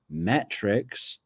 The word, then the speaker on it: Mertrix: It's true crime Metrix, as in metric system. I know the plural of that would be spelt with a CS rather than an X, but hey, we're high tech.